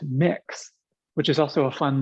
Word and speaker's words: Mx: of your business it's mx period pronounced mix which is also a